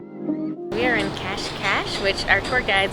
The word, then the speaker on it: Cascais: Matter of fact, I actually pronounced it Cas Kais like C A I S. Cash Cash is about 30 to 40 minutes outside of Lisbon.